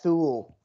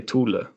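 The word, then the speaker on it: Thule: will have rules right so how would you pronounce it and according to the german rules probably tula yeah that's probably correct yeah by the way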